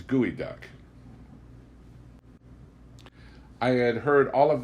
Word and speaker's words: geoduck: Geoduck, by the way, is pronounced by the Indians gooey duck.